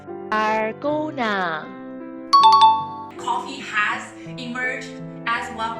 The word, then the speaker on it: Dalgona: How to pronounce it? Follow me, please. Dalgona.